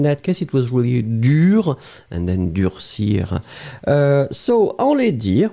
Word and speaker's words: dur: Pronunciation will be exactly the same. So whether it's the masculine, dur, D-U-R, feminine form, dur, same pronunciation, D-U-R-E.